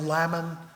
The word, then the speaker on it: Lamon: From Michelle, David Davis, of course, was the executor of the Lincoln estate, and Ward Hill Lamon, rhymes with salmon, as we heard, was his legal circuit friend.